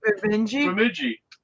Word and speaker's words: Bemidji: Bemidji.